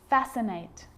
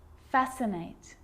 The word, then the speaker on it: fascinate: tricky muscle muscle scissors fascinate scene scenario muscle scissors fascinate seem scenario so that's the silent sea so what about the